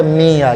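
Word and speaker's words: みゃ: लेकिन जब आपने म्या लिखना है तो आप ऐसे लिखेंगे, मी और मी के साथ या छोटा लिख दिया आपने तो इसकी प्रोनाउंसिएशन होगी म्या।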